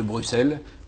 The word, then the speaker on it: Bruxelles: Est-ce sa faute, après tout, s'il savait déjà à 12 ans que Castellane se dit Castellane, et qu'on ne prononce pas l'X de Bruxelles ou d'Auxerre?